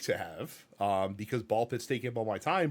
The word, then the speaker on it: BallXPit: It's ball x pit technically. I'm pretty sure it's just pronounced ball pit. It's just ball pit.